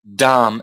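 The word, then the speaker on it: dhama: you don't pronounce the you don't pronounce the last a so you've got Dam that is Adam okay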